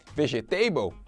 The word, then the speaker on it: vegetable: Vegetable? Não, nada de table, tudo que é mesa, não, nada a ver. A pronúncia é vegetable, vegetable.